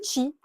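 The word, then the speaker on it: qi: Le chi, Q-I, c'est C-H-I, ça se prononce, donc chi, par les Chinois.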